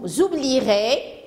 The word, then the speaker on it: oublierez: se prononcent pas vous oublierez le e il est là mais on l'entend pas et nous avons par